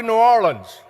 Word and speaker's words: New Orleans: Welcome to New Orleans. I was taught that's how you say it, so Ruben, if I get in trouble, you tell me.